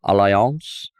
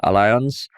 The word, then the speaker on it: Allianz: is the news that a German insurance company allance uh which I thought was French but uh Alliance has that's how you got to pronounce it